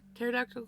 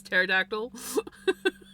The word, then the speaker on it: pterodactyl: Hey, best parad pterodactyl go to the bathroom because the P is silent, right? But did you hear me almost pronounce it pterodactyl before my brain registered? No, that's pterodactyl.